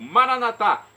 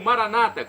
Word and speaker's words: Maranata: E agora eu clamo do aramaico, Maranatá, como dizemos nós católicos, ou Maranata, como dizem nossos irmãos separados, os evangélicos ou protestantes. Não importa a pronúncia, o significado é o mesmo.